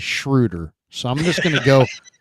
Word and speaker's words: Schröder: just because you know there's no reason that it shouldn't be Schroeder it should be Schroeder uh but he pronounces it as shrewder so I'm just gonna